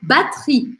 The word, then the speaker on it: batterie: E no final da palavra, tiro esse E. A última coisa que eu vou pronunciar é o R e o I. Ri, une batterie, batterie. Mas tem outra coisa curiosa aqui. É que esse E aqui também some.